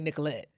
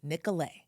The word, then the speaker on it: Nicolet: We know that you want to say Nicolet. So we're going to say this kindly because of course we're Minnesota nice. But listen closely. The actual pronunciation is Nicolet.